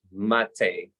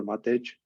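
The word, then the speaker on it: Matej: is Matt or thanks for pronouncing it well the first time usually people go for what age uh I'm from Slovakia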